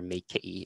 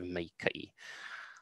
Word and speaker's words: maikaʻi: So you often hear meike'i instead of meike'i.